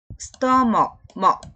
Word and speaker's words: stomach: 여기 stomach. 그래서 이제 이게 여기가 뭐에다가 ch는 키역 발음이 나요. 키역 소리가 난다는 거죠. 여기 이제 이 발음 기호를 찾아보면 K로 나와 있어요.